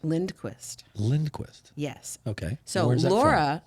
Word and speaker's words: Lora: lindquist yes okay so laura laura actually is phonetic l-o-r-a so when you texted me you spelled my name wrong which is a very common mistake so it's actually l-o-r-a well thank you for